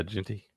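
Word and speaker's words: Jeanty: Yeah, Genty.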